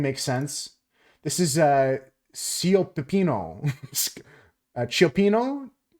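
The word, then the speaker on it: cioppino: Chapo slower please chapeno no chapeno this is chapeno a delicious seafood stew that originated in San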